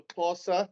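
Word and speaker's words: Xhosa: Um, and so if you are Corsa and you spell that X H O S A, if you're Zulu, or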